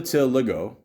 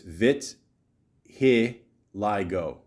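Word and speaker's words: vitiligo: including the skin hair and mucus membranes they till Lego or I'm I'm not sure I'm pronouncing right oh there you go in Brackets vit Lio there you go thank you uh is a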